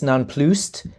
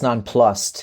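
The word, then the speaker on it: nonplussed: So I I used to you say it's nonpluc but I've been recently informed it's nonplust. That's how I've always pronounced it. So yeah I made it more French than it is.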